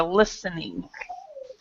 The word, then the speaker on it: listening: with with the listening listen the t is silent so you would you were listening okay so yeah I